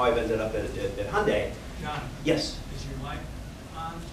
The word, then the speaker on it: Hyundai: my company's name correctly it's it's Hyundai it rhymes with Sunday um and it's amazing how many times that's mispronounced um we go by Hyundai it rhymes with Sunday